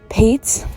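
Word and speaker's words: Patz: word letter combo so the e was dropped during world war ii and so that's why it's p-a-t-z but it's pronounced pates it's it's fairly uncommon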